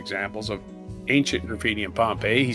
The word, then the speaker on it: Pompeii: Rhymes with lay, Pompeii, right?